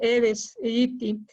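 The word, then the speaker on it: Aedes aegypti: asociado a culex ahora sí que haciendo la pronunciación correcta de la especie aedes egypti también en algún momento se le vinculó a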